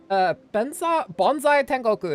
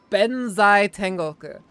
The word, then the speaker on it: Benzai Tengoku: Bonsai Tengoku is the name, right? I didn't mispronounce it, did I? Yes, you did. It's Benzai Tengoku.